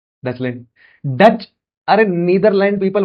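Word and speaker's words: Deutschland: डॉचलैंड, या हाँ डॉचलैंड प्रोनाउंस करते हैं।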